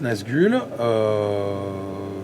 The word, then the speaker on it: NzgL: Mais voilà, en tout cas, oui, ça se prononce Nazgûl.